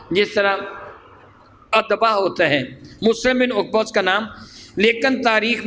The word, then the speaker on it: مسلم بن عقبہ: بیعت توڑ دی، مختصر یہ۔ چنانچہ یزید نے مسلم بن عقبہ، میں نام صحیح آپ کو بتانے کے لیے اس کی سپیلنگ بھیجے، میم سین لام اور میم کیا بنتا ہے؟